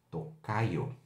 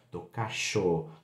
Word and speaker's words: tocayo: E aí, falando um pouquinho de pronúncia, se você tem aí, né, o Y na palavra, você pode ter uma variação na Argentina, no Uruguai, como tocacho, tocayo também em algumas regiões, certo?